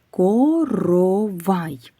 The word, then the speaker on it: коровай: Скільки звуків у слові коровай? Сім звуків. Правильно. Скільки голосних звуків? Три. Молодці. А приголосних чотири. Так. На який склад падає наголос? У слові коровай на третій склад.